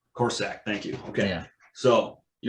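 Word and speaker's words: Korsak: And so, how do you pronounce the Rutgers punter last name, Richie? Corsack. Corsack, thank you.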